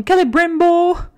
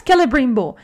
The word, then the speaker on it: Celebrimbor: But this season, the second season, is really about Celebrimbor, and I don't know how to pronounce that name. Celebrimbor. Yes, Celebrimbor.